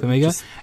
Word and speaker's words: Farmiga: So we've got I'm pretty sure I'm going to butcher this, but Vera, is it Farmiga? Is that how you pronounce it? Yep. Yeah. Yep. Farmiga.